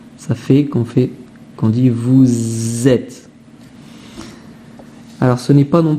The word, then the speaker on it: vous êtes: Vous êtes en forme. Alors Z, ça s'écrit pas avec un Z au début, hein. C'est la liaison qui fait Z.